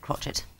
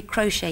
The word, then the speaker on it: crochet: Horrifically, they're all words that close with a silent letter. Oh, crumb, okay. Column, debris, crochet, you do not hear the last letter.